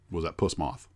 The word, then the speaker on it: puss moth: sent me was that puss moth. Puss moth. Make sure I say it right. It's not a puss is the stuff that comes out of your puss as in pussycat.